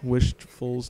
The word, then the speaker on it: Wishfuls: comment, rate, subscribe, and don't forget I my name on League of Legends is Wishfuls just just the way it sounds like the word wishful with an S on it.